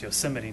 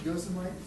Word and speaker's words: Yosemite: it's pronounced Yosemite, not Yosemite, but My sister-in-law, who's a lawyer,